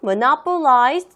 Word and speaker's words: monopolize: German government monopolized the coffee trade. 여러분들 혼자. 오케이, 잘하셨습니다. 자, monopolize는요, 바로 독점하다라는 의미를 가지고 있는데요. 얘가 단어 발음하기가 조금 힘들죠? monopolize. 이렇게 액센트 잘 들어가면서 발음해 주시면 되고요.